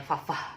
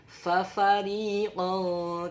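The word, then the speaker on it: فَرِيقًا: Fafa, tapi jangan bacanya fafah, tapi fafariqan kadzabtum wa fariqan taqtulun.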